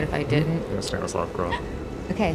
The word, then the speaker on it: Stanislav Grof: Yeah, Stanislav Grof.